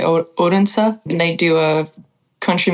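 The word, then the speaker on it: Odense: to a town in America people pronounce it Odin it's spelled like Odin but there they say o odens and they do a country music festival outside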